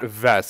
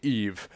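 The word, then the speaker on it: Yves: And, oh, so I was looking up how to pronounce Dupre's first name, and it's not Vess. It's actually Eve. It's actually the S that's silent.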